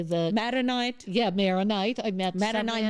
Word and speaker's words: Maronite: Maronite.